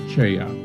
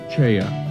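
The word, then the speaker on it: 최: founder of Hapkido, Grandmaster Cheya. His name is spelled as Choi in English, but pronounced Cheya in Korean.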